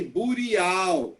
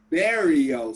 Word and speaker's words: burial: understand egyptian burial burial pay attention to the pronunciation we don't say booty owl is burial sites no no uh you